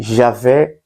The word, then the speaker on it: Yahweh: Eles escrevem Deus com 4 letras, que se pronuncia como que Javé, Yahweh, que seria o Senhor.